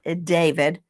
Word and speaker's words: D4vd: It looks like D4VD. It's David.